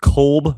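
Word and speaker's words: Kolb: It looks like his last name is spelled Cobb by the way. KB, but they say Cobb. That's how you're supposed to say it apparently.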